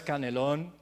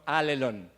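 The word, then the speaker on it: ἀλλήλων: griego que es alelo no puede pronunciar a león no es canelón no enmarcaron ale long muy bien lo habéis hecho perfecto y ale long sabéis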